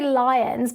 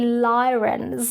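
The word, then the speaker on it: Lyrans: Um, now I I'm I was going to say lions, but I've been saying it wrong. It's actually lyens, but I've been saying lions because they have a feline look to them.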